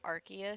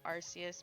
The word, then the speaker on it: Arceus: I still think it's hilarious that they told everyone to pronounce it Arceus so that no one would end up calling it Arceus because apparently it sounds too much like how British people say ass, which was the funniest thing.